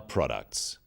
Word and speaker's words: products: In words, one syllable is stressed. The wrong stress makes it hard to understand. So, conclusion, not conclusion. Products, not products.